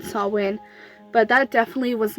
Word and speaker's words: Samhain: A lot of people got offended because I was pronouncing it Samhain rather than Samhain, but that definitely was not my intent at all.